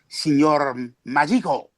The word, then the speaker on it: Signor Magico: Which of course I'm not even pronouncing it properly. It's Signor Magico.